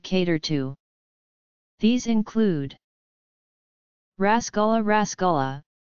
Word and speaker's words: Rasgulla: Rasgulla, locally pronounced Rashagulla or Rashgulla, is a sweet made with chana and sugar syrup.